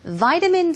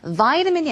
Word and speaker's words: vitamin: And he also told us vitamin C helps. 비타민을 먹는 것도 참 좋은 방법이다라고 이야기를 하셨는데요. vitamin이 아니라 vitamin 이렇게 영국 발음으로 또 발음을 해주셨습니다.